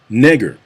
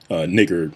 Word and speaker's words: Niger: Now, you may be looking at the screen and wondering why I'm not pronouncing that Niger. That's because back in the day, it wasn't called Niger. That's a relatively modern pronunciation of it.